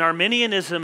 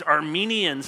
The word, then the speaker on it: Arminianism: people talking Calvinism and Arminianism, and in fact, you're going around and you're mispronouncing it, and you're saying, oh, these Armenians, and there's people maybe from Armenia who are feeling really bad.